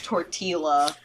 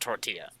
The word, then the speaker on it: tortilla: __ ] Tortola my mom my mom says tor Teela it's so close why because she's white that